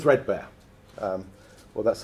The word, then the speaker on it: 3DBARE: so first of all it's uh it's called threadbear um well that's how we pronounce it and I'm going to run you